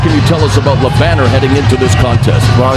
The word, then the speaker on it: Jerome Le Banner: And here comes the ferocious Frenchman, Jerome Geronimo Le Banner, or Le Bannière, as our ring announcer Michael Buffer pronounced it as.